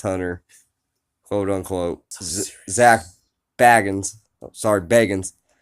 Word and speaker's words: Bagans: quote-unquote zak bagans sorry bagans it's literally spelled Baggins be pronounces at bagans but that that's a